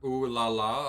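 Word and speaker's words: Ulala: Uh you know her name's pronounced as Laala.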